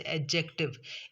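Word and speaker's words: adjective: जैसे एडजेक्टिव, ए डी जे ई सी टी ई आई वी ई, एडजेक्टिव हम नहीं पढ़ेंगे, एडजेक्टिव पढ़ेंगे।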